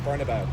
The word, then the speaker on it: Bernabéu: Like this walking down the Castellana, like going to like the Bernabéu, like this. It's beautiful. Sorry, the Bernabéu.